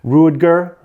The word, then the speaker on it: Ruedger: pronounce your name right but it's called rudger i believe it is it's r-u-e-d-g-e-r uh he's fantastic practitioner uh